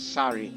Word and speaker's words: Sari: you pronounce her name you pronounce her as sorry as in like the dress that indian women wear the traditional garb for indian ladies and uh and so